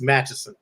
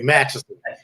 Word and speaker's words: Matteson: The people out in Matteson say it's Matteson. Right. So let me pronounce it the right way, Matteson.